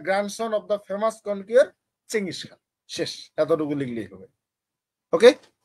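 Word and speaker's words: Genghis Khan: আর বানান ঠিক রাখার জন্য বলবেন গেঙ্গিস খান বলবেন, হয়ে গেল। গেঙ্গিস খান। গ্যাং, GENG গ্যাং, আর হচ্ছে গ্যাং হিস খান, HIS হিস। এগুলা মানুষ শুনলে হাসবে, কি উচ্চারণ শিখায় বাচ্চাদের। হ্যাঁ, বাংলাদেশ তো হয় আবার চেঙ্গিস খান। চেঙ্গিস খান, একবারে জি এটাই উচ্চারণ হবে চেঙ্গিস ভাইয়া। খানের, এটাই বানান, এটার উচ্চারণই চেঙ্গিস খান।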